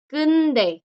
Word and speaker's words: 근데: La segunda, kunde. Kunde. El acento generalmente lo alargan acá, generalmente alargan esta.